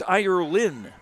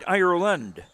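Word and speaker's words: Irlyn: lead and she does her first name is spelled IR Lyn so it's irin not quite irand and she made them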